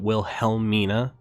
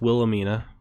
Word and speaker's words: Wilhelmina: ] uh wilhemina which i don't know why i was pronouncing it will helmina so like heavily last time it's wilhelmina or damaging minnie or others